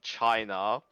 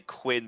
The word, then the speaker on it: Qin: Some people say Qin because it's spelled Qin. Wait. And So it's Chin? yeah, it's pronounced Qin. Yeah, it's pronounced Chin. Well, in modern times, because they say the Q as a CH.